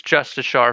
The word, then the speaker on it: Justicar: Justicars, right? Justice Shar. Is that actually how you say it? Any of my OSRS homies will agree. I'm looking at you, Man. Jill. Yeah, I see you're in chat. I mean, it's Justice Shar for sure.